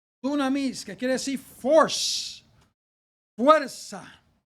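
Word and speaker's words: δύναμις: y dice aquí amados la palabra poder en el griego se pronuncia dunamis dunamis que quiere decir Force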